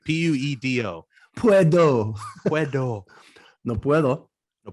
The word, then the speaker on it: puedo: can't hear you taunt so not plato no puedo puedo like p-u-e-d-o puedo puedo no puedo